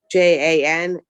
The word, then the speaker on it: Jan-Jaap de Groot: And if we have the person's name, Jan-Jaap de Groot, JANJAAPDEGROOT.